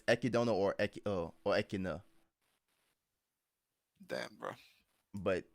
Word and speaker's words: Echidna: It's not Echidna.